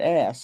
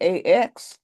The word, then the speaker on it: ask: Don't just say ax. That's that's a tool, an ask.